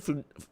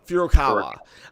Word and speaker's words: Furukawa: Furukawa. Furukawa.